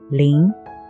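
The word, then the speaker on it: 林: that covered with the Thick Growth of trees pronouncing lean next what about this character now more trees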